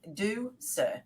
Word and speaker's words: Ducere: it's Latin for to lead and it's D do sir so do yes I am very simple uh way to pronounce it a very good friend of mine